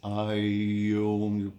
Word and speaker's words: Om: It can be pronounced as I Om. You start from down and then you bring it up.